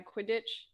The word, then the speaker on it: Quidditch: Is that a save a broom and ride a Quidditch? Quidditch. Yes, you say that's exactly how it's let your pronounced.